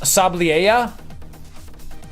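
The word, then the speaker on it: Sableye: Yeah, this is pronounced Sabliea. So not a lot of people pronounce Sabliea correctly.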